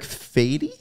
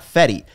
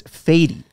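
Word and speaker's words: Fedde: Also in the rotation, Michael Soroka, Eric Fady. I think it's now. I saw the pronunciation list. It's not Fetty. It's Fady.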